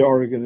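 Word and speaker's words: Origen: Well, you can say Oregon if you want. It would be origin adamantius, right?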